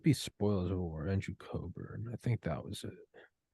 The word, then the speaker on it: Cockburn: Pronounces it Coburn. It's Cockburn, but Cockburn.